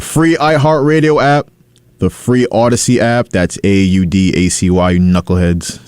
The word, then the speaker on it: Audacy: iHeartRadio app the free Odyssey app that's audacy Knuckleheads spell it right it's not Odyssey it's Odyssey a-u-d-a-c-y also the TuneIn app